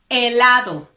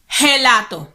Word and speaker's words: helado: For example, helado. Don't you ever say gelato. No. No. No. Helado. Don't pronounce the H.